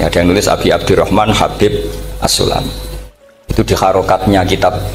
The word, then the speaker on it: Habib: yang nulis Abi Abdurrahman Habib assulami itu di harakatnya kitab itu ada yang nulis KH yang benar Oh gigih yang benar itu bacanya habib habib itu assulami itu ikut